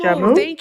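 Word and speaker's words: joumou: Professor said soup Jumu. jamu.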